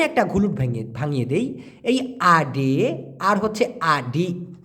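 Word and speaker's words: ada: নেওয়া আপনি বলছেন মূলত মালয়েশিয়া রা অনেক ক্ষেত্রে আডা শব্দটিকে আড বলে তা আডা না বলে তা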